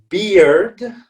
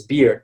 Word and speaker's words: beard: right that's the drink beard okay it's just like beer so this is just like beer with a d at the end it's beard but then bird is